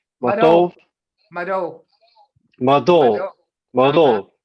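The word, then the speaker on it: Mvto: Matov? Mado. Matov? Mado. Mado. Mado. The T is a D.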